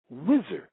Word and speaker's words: Osiris: Hakim was the only one who ever came up with the pronunciation Wizir for Osiris, where the word wisdom and wizard comes from.